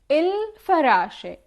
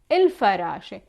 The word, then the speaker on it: الفراشة: We are the butterfly, الفراشة, il, and the fa is pronounced one time. الفراشة.